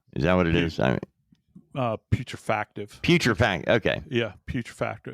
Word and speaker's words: putrefactive: The bodies already are in what is referred to as moderate putrejactive. I don't know how you pronounce putrejactive. Is that what it is? Putrefactive.